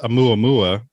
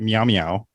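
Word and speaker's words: ʻOumuamua: said it no well the correct name is muammua but i was calling it meow meow uh or something yeah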